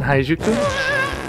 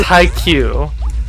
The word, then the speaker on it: Haikyuu: There's a cat team in Haijuku? And I don't know why I keep wanting to call it Haijuku. It's Haikyuu. Haijuku. My brain is just adding in extra syllables.